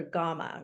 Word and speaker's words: Gamma: today to that grandmother I called her gamma rhymes with Mama and I attribute that